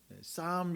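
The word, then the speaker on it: psalm: 영어단어로 혹시 아시는 분 싸움 이라는 단어에 요 그 앞에 이제 뭐 스펠링이 있지만 맨 앞에 있는 피자와 중간에 엘자가 묵음 이 돼서 싸움 이라는 단어가 시편 이라는 영어 다는데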